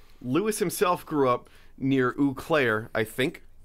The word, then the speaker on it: Eau Claire: oh i believe it it's french so it's like eau de toilette oh eau claire okay i got it